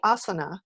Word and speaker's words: Asana: where it would be asana with the stress on the first syllable and we discussed this